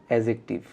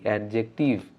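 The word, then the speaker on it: adjective: আজকের পর থেকে সবাই একসাথে ডিড ডি এর উচ্চারণ আমরা কেউ করবো না এডজেক্টিভ কি বলব এডজেক্টিভ ধরে নেন বানান হচ্ছে এ ডি যে ই সি টি আই ভিই এডজেক্টিভ ডি এর উচ্চারণ নেই ইংলিশ ওয়ার্ডে যখন ডি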